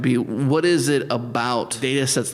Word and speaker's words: Datasette: people don't go to it's um spelled like the Commodore 64 tape drive um so it's da a TTA like a cassette but for data data set cassette so think about that